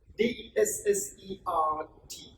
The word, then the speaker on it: dessert: D-E-S-S-E-R-T.